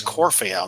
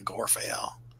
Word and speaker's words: Corfael: Yeah, It's Corfael, not Gorfael.